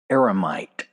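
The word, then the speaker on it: eremite: Aramite. E R E M I T E. Aramomite. An aromite is a hermit.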